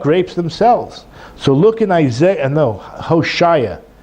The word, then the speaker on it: Hosea: So look in Hosea, that's how you say it in English, Hosea, chapter 9, verse 10.